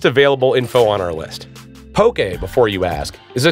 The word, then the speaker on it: poke: info on our list Pokey before you ask is a traditional Hawaiian raw fish meal commonly served in a bowl as an appetizer and sometimes as an entree also it is pronounced poke you know in case